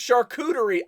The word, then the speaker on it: charcuterie: for you dude uh it's pronounced charcuterie charcucci i know i know